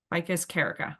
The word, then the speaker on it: Ficus carica: The scientific name for fig is, please don't butcher me on this, Ficus carica. Is that how you say it? Close. Ficus Close? carica. Ficus carica.